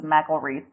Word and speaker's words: McElreath: It's McElreath. Okay. Yeah, I got the pronunciation from your Facebook page, but it wasn't,